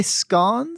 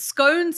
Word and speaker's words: scone: what did you say scon yeah we it's scones is just the American pronunciation but oh scones yeah Brits and Australians call it scon oh really yeah I've